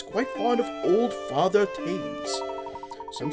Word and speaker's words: Thames: Pronounced Thames, not Thames. Alright, Thames. It's Thames.